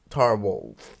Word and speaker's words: Tarble: bring his brother tarble tarbles i think that's it tarble here that's how you pronounce his name and our world will